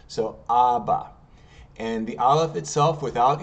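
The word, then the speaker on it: אבא: bet Al okay and notice they have the a the vowel underneath a The Vow underneath the dash with a t like which is an a sound so ABA and the alive itself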